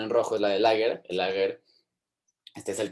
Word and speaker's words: Lager: Entonces, sí, Lager, Lager se dice, pero en alemán se pronuncia Lager, es en el campo.